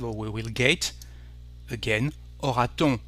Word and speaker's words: aura-t-on: Again, aura-t-on? We need a T instead of saying aura-on, which is actually a bit strange for a French speaker.